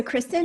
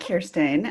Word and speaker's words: Kirsten: So, Kristen, do you want to go first with your introduction? Yeah. So, it's um so it's pronounced Kirsten.